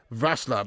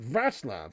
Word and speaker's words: Wrocław: Vaslav, that's how it's pronounced of it, Vaslav, really, wow.